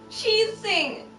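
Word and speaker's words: Qixing: it's pronounced chi okay she sing she so the q is pronounced like a ch and the x is pronounced like an s so where is he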